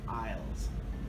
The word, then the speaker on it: Isles: I don't know why Isles is spelled with an S. I really don't know. Isles. Isles. Grocery store aisles. Island aisles. Church aisles. Every aisle. Oh!